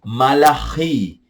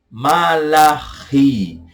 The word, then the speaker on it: Malachi: Por fim, Malaquias, português, do hebraico, Malachi. Malachi. É só você lembrar de uma mala e essa mala está rindo. Então você vai dizer Malachi.